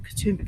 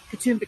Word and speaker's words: Katoomba: Katoomba Cascades cadumba Creek you may have noticed there's a slight difference in the way that is pronounced and Katoomba is more or less an anglicization of the way the local indigenous peoples would have said the name for this area kudumba which roughly translates